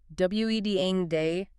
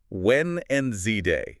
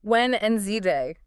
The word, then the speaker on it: Wednesday: Wen and Zday. Yeah. Like one of our sources said, you basically have to forget the spelling. Say it how it sounds. That D in the middle gone.